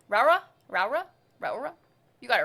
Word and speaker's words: Raora: I default to the Japanese pronunciation because it's easier. There's a Japanese pronunciation? Raora. Raura?